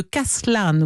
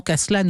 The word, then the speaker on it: Castellane: Le marquis de Castellane, vous pouvez le prononcer indifféremment, Castellane ou Castellane, qui bien plus tard se complaira à raconter les circonstances dans lesquelles il a élaboré cette mystification.